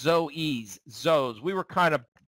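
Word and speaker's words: Zoës: around for this I always forget how to pronounce this restaurant it's it's not Zo it's Zoes zo we were kind of big on uh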